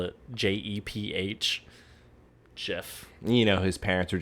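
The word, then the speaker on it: Jeph: bridge look it's also a not at the Jeff I know because it wasn't not a Jeff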